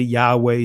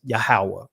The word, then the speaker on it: Yahweh: Now, some of you guys would say Yahweh, some would say Yahwa, you know, but the ancient pronunciation is Yahawah, right?